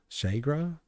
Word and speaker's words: Chega: Chegra?